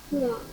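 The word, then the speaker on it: poids: OI, if there is OI inside a word, we simply pronounce it as OA. Remember, OA. How to pronounce OA? OA. Okay, very good. Now pronounce the first word. Poa.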